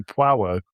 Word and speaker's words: Poirot: Poirot? Poirot. Like it's got a W in it. Poirot.